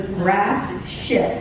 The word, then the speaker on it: Gratiot: It's spelled Gratiot. Gratiot. When I hear it on the radio or the TV, my head would whip around because all I ever heard was grass shit.